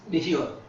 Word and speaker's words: nihilo: actually means creation ex nihilo. Anyone? I always pronounce words wrong. What's the word? I think it's Nilo or Nilo. I think it's nihilo. You don't say the H.